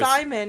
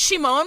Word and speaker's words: Shimon: I got It's pronounced Shimon.